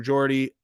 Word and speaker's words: Geordie: By the way, True Geordie, not Gordy.